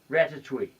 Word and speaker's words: Ratatouille: Ratatouille. Okay, wow. What a accurately French pronunciation.